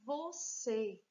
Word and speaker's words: você: Próxima palavra, palavra você. 2 sílabas. Você. Temos aqui a palavra já acentuada. Como é a última sílaba, então ela é oxítona.